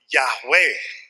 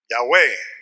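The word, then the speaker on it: Yahweh: pacto de Dios Okay es Jehová O yahwe yahwe yah como le quieran eh pronunciar okay Entonces cuando ustedes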